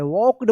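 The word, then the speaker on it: walked: यानी इसका रूल है कि के से पहले अगर एल आता है तो एल का कोई उच्चारण नहीं होता है। वॉक्ड पढ़ेंगे।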